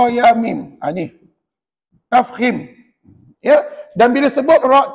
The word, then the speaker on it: tafkhim: itu terbahagi dua iaitu yang pertama disebut ra tafkhim Cuba sebut yang pertama ra tafkhim dan puan-puan ejaan tafkhim macam ni t t a f